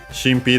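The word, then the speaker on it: 神秘: Shinpi, the most common one, Chinese compound accent on the first one, means mystery, secret, mystery, or even better, mysteriousness.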